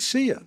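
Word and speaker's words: Saor: Is it seer? Seer. It's Scottish. It's Gaelic. Oh, is it? Yeah. So, and it's pronounced seer.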